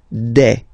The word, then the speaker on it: des: Okay, and then the plural form des. All right, here s you pronounce it like e. Okay, un, une, des.